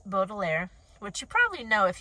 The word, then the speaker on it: Baudelaire: So I looked that up for you guys, and their last name is pronounced Baudelaire, which you probably know if you watched the Netflix series, but I haven't seen the Netflix series.